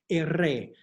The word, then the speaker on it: erre: Erre. This one you might have to do a couple times, make sure they're rolling the tongue.